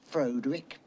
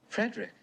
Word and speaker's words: Frederick: Do you also say Froderick? No, Frederick. Well, why isn't it Froderick Frankenstein? It isn't. It's Frederick Frankenstein.